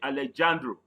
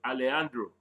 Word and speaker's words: Alejandro: Mind how I pronounce the name. I didn't say Alejandro. Spanish pronunciation is Alejandro.